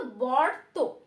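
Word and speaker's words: বর্ত্ম: তো দেখো এটা কিন্তু বর্ত। বর্ত বানানটা দেখো, ব তয় ম যুক্ত এবং উপরে রয়েছে রেব।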